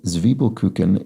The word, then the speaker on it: Zwiebelkuchen: And Ben Ward points out that the first syllable in Zwiebelkuchen is pronounced to rhyme with T, as I did just there, and not with tie, as I erroneously did yesterday, as opposed to the